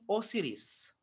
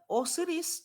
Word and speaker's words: ओसिरिस: एक तो एट the main God इज ओसिरिस। ओसिरिस, तो स्पेलिंग गलत हो गई है ओसिरिस की, आप थोड़ा ध्यान दीजिएगा आप सभी।